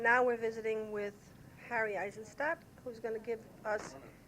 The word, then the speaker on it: Aizenstat: And now we're visiting with Harry Aizenstat, who's going to give us his background a little bit. You'll have to pronounce my name correctly. Aizenstat.